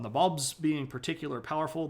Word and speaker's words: Nabob: the regional areas called Nabobs being particularly powerful. That word is N-A-B-O-B. Nabob is how you pronounce it.